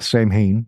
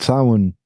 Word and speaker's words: Samhain: I, along with a lot of Americans, call Samhain Samhain because it's the Anglo pronunciation of the words, Samhain. Mm-hmm. But Samhain, huge.